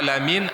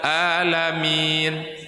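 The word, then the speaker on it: العالمين: Karena bahasa Arab ini, Bunda, beda pelafalan, beda makna. Betul, Bu. Contoh, contoh ibunda. Alhamdulillahiabbil alamin. A alamin alam semesta. Tapi kalau ibunda bilang alamin, orang-orang sakit. Jauh enggak maknanya, Bu? Jauh. Satu alam semesta, satu orang sakit.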